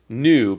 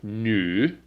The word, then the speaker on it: 女: I wrote new and it's not just new but it's new it's a very strange like your lips kind